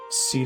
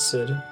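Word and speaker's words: Cid: a sorcerer since childhood seed is how you're meant to pronounce Sid this game is not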